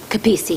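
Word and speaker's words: Capece: i'm sorry i didn't catch your last name kapisi thank you do you need me to spell it sure c-a-p-e-c-e thank you i just wanted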